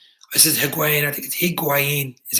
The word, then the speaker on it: Higuaín: and pronounced his name this is her quanities he queen is how you pronounce that nerd boy and they said Murata